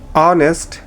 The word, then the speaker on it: honest: Silent H, অনেস্ট, hour.